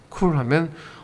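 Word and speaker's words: cool: 우리가 발음할 때 그냥 하지 말고요. 혀의 위치를 한번 생각해 보세요. L 사운드의 혀와 쿨 할 때 그 혀의 위치가 동일한가? 쿨, L 이렇게 한번 해보세요.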